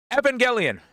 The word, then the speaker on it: Evangelion: on neon uh Neon Genesis uh I always mispronounce this Evangelion Evangelion I got it I'm sorry but anyway yeah